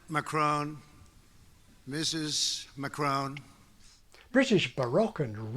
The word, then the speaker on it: Macron: Baroque and Renault and many speakers use it for a third French vowel as in macron president macron Mrs mccrown British Baroque